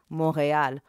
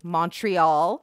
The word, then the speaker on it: Montréal: which would later be called Montréal, or as some English speakers say, Montreal.